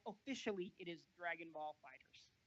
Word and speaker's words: FighterZ: It is pronounced Fighters, not Fighter Z. I can see why people make that mistake, though. You know. Certainly. The Z is kind of a big orange letter.